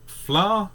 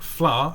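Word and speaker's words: fleadh: for the info that flower and it's not spelt like that but i'm sure that's how it's pronounced um is uh irish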